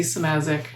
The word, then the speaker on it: Szymaszek: My name is Samazic, poet.